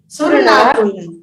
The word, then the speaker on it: असुर नाग: देखिए जो आप असुर नाग बोल रहे हैं ना, तो इसको समझना असुर नाग है, लेकिन पढ़ते समय अ का उच्चारण साइलेंट रखना है। भवनवासिनो सुरनाग, हाँ सुरनाग, पढ़ते समय उसको साइलेंट रखना है।